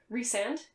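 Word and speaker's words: Rhysand: are similar to write resand i always want to say rice and i know that's not how it's pronounced but it's how it's pronounced in my heart um but i'm trash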